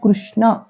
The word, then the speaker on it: కృష్ణ: నకాంక్షే విజయం కృష్ణ, కృష్ణ అని పలకకూడదు. మనం ఎలా పలుకుతామంటే సాధారణంగా అయితే కాకి గుడి పెట్టినట్లు, గుడిచ్చినట్లుగా, అంటే గుణింతల్లో ఇకారం కలిపినట్లుగా కృష్ణ అని పలుకుతాం. ఇది మనందరం చాలా సంవత్సరాలు బట్టి చేస్తున్న ఉచ్చారణ దోషం, ప్రొనౌన్సియేషన్ మిస్టేక్. అలా కాకుండా రుకారం కృష్ణ అని పలకాలి.